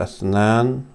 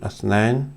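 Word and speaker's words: اثنان: And this is Athnain or Athnan, depending on how you pronounce it. Athnain, that's the common pronunciation.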